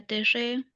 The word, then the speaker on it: terre: Bueno, la culturé de la terre, no pronuncio la e final.